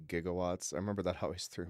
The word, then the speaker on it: gigawatts: it possible that those are supposed to be pronounced gigawatts I remember that always through me he always said jigawatts I was like it sounds like he's getting